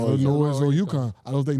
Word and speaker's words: Illinois: Illinois Illinois or Yukon. I don't think neither one of y'all would go to the final four. The S is silent. Huh? The S is silent. If you going Illinois Or noy no noise.